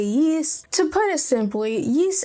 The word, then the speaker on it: Ys: me I am sorry some people say Ys I say yeast to put it simply